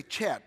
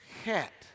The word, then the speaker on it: Chet: microphone come up here because in English we would say chat but that's not how you say it it's got to have a little guttural in it but not too much and I know that